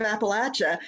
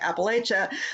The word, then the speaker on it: Appalachia: Encompass the north but if you say Appalachia down here you're going to get an Apple thrown at you so that's how you